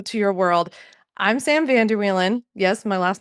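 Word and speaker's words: Vander Wielen: Since so many of you told me that I'm new to your world, I'm Sam Vanderwan. Yes, my last name. Vanderwan, that's how you say it.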